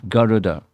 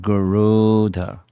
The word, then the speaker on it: Garuda: And normally how one pronounces his name is Garuda, but there's no long mark over the U. So it's Garuda, not Garuda.